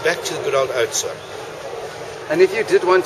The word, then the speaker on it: Oudtshoorn: And then back to the good old Oudtshoorn.